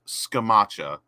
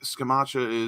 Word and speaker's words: Scamacca: you pronounce the guys i think it's s scamacha i think that's the italian way i swear to god